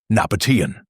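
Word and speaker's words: Nabataean: Pronunciation: Nabatian.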